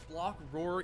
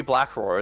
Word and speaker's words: Block Roar: You do think it's going to be Black Roar, isn't it? Block, or don't you? Roar, Spar, Spar. Oh, you mean the pronunciation? I just thought it was Black Roar for like a week.